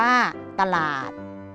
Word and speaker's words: ตลาด: อ่าน ว่า ว่า ฉลาม ตลาด มี อักษร ตอเต่า นำ สะกด ว่า ต่อ อัด อะ อะ หอ รอ ออดอ เราด อ่าน ว่า ตลาด จมูก มี อักษร จอ